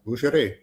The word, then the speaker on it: boucherie: of food, they have I don't know how to say this word, but boucherie? Did I say that right? Yeah, boucherie. Boucherie. Okay, boucherie pig that tasted awesome.